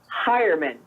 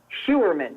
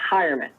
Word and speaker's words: Heuerman: his name is pronounced heuerman and I always look at it I want to say human because that's how it's spelt but for some reason it's pronounced heuerman but he is the